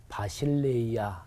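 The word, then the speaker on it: βασιλεία: 헬라어로 발음해 보면 바실레이아 이렇게 발음해요. 그리고 교회는 에클레시아.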